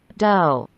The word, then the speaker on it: dough: Dough. Dough. Love. Love. Dough. Tak. Dough. Tuh. Tuh. Bacanya do. Benar kan? Tuh. Betul kan? Tuh. Do, kan? Bacanya do. Nggak pakai do. Nggak pakai H, tapi do.